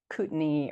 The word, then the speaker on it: Kootenai: It's been reinterpreted as Kootenai or Kootenai.